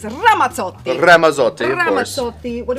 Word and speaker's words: Ramazzotti: Ramazzotti. Which, obviously correctly pronounced is Ramazzotti.